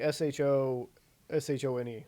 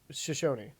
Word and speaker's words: Shoshone: to say something different it is spelt like s-h-o-s-h-o-n-e so shoshone shoshone